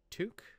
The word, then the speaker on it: toque: rocking out half armor I've got a toque I am saying it wrong again aren't I no that's right excellent and a tunic